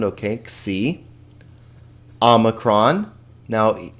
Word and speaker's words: omicron: X sound, okay, xi, omicron. Now, let's be careful here that we don't say omicron, because we'll see in a minute here that omega has the O sound.